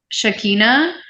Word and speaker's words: Shekinah: You actually pronounced it super correctly. Okay, So yeah, it is Shakina. But the other way that you can spell it is Shekinah. Shakina. So you're doing it the correct Hebrew Aramaic way.